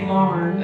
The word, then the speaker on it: barn: For a dance in the barn, it's Scottish, so yeah, barn has 2 syllables. We say barn.